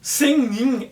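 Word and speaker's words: 仙人: oito Imortais os oito senin senin é a pronúncia Japonesa por um termo de origem chinesa cuja tradução literal é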